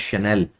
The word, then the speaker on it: Chanel: It is pronounced as Chanel.